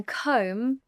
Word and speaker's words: comb: In comb, the B is silent.